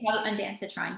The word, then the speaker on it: Ondansetron: I'm not sure how to pronounce it, sorry. Ondansetron.